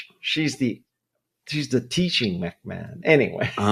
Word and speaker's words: McMahon: I just I just introduced I mean I just interviewed Sharon McMahon and her name is spelled MC M A H O N. So I mean everybody must be saying Sharon McMahan but McMahon, right?